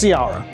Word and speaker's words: Ciara: so forgive me my, And most people mispronounce it, and I never correct them because as long as it rhymes, it's close enough. so it is Ciara.